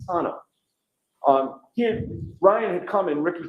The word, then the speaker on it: D'Antuono: Tom and his friend, is it Ricky D'Antuono? How do you pronounce the name? It's Ricky D'Antano. D'Antano.